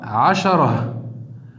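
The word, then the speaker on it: عشرة: On écrira asharatun, mais on s'arrêtera, on dira ashara. Parce que rappelez-vous, on avait vu dans les cours précédents, lorsqu'on termine sur un tamarbouta, on le prononce comme si c'était la lettre H à la fin.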